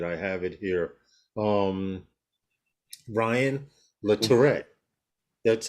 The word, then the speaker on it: Latourette: coming on for um ryan look hold on ryan le tourette let me let me pull up the page just to make sure that i have it here um ryan the tourette that's how you pronounce it i'll put the link here i